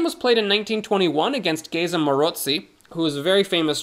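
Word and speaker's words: Maróczy: for the Maroczy bind, which for some reason Americans call the Marcozy bind, and I'm not someone to, you know, be a stickler about pronunciation, given how I'm saying Uwe's name probably 15 different kinds of wrong, but come on! The C comes after the O!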